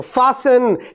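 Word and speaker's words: fasten: ये समझ में मेरी बात आ गई तो फसन हैसन लिसन ऑफें ये सारे वर्ड्स ऐसे इस्तेमाल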